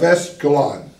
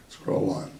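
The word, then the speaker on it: Esdraelon: it is actually known as the plain of Escalon that's good yeah okay let me spell it for you so you'll have to get it right e-s-d-r-a-e-l-o-n scroll on okay notice that the coastal plains vary in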